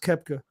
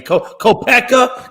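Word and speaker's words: Koepka: at the Masters that's I think it's pronounced kepka you kid probably is and I don't he's got a weird name man kopeka can we go hey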